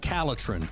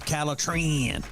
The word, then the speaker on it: Calatrin: that you need is called calatrin or you can pronounce it calatran very easy for you